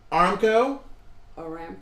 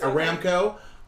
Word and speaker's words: Aramco: did a video on Armco Aramco sorry I mispronounced that Aramco on patreon very interesting